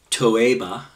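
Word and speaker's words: תּוֹעֵבָה: it's from Hebrew number 8 441 which is pronounced toea and it means something disgusting and abhorent especially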